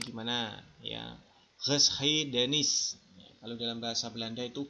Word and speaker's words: geschiedenis: Ini bacanya gimana? Ya, Geschiedenis.